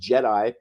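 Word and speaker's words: GEDI: that in a second one's called Jedi um it sounds like something from Star Wars doesn't it it's spelled a little different it's G versus J but it fires lasers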